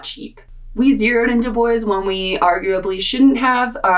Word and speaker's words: Dubois: far in Du Bois, and yes, it is pronounced Du Bois. Don't make the mistake that I did and call it Du Bois. I spent $504.04 in that town. If you don't know, Du Bois is a gateway town to Yellowstone, so it's